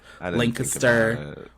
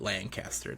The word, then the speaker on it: Lancaster: Lancaster.